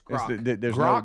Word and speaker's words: Grok: Is it Grok or Gronk? It's Grok. There's no N in it. Right, Rhymes with rock.